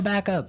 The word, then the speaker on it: backup: point out that here the pronunciation and stress of this phrase is really important hey yes yes you have to say backup Backup backup yeah so both words are stressed at about the same level hey mhm back up